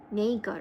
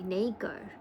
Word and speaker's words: nacre: Primary scientific name is nacre, pronounced nacre actually. Nacre, pronounced nacre.